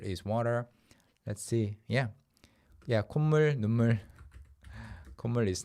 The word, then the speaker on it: 콧물: So 코 plus 물, instead of saying 코물, for various reasons, people started pronouncing it like 콧물 over time, verbally, and the 시옷 is